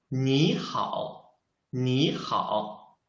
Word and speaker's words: 你好: 你好你好 You can find, I changed the 你 I changed its pronunciation. Why? Because in Chinese, if there are two third tones, we should change the first third tone into the second tone. That's why I should read it 你好 not 你好 It's wrong.